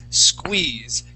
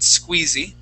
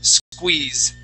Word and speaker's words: squeeze: First off, in English, usually when you see an E that is at the end of a word, that E is silent, okay?